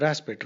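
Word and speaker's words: respite: one ensure a raspet that is pronounced raspet Rite rasit means interval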